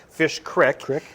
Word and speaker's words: Fish Creek: uh i stayed in ephraim and they have fish creek it's not they don't pronounce it creek it's called fish creek it's all these really great little towns and